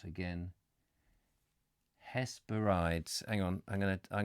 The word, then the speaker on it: Hesperides: is or something let's let's get the pronunciation coming hesperides hesperides has is that what you said Hess has parodies yes thank you got it now his parodies say once you've got it has parodies it's not like doesn't sound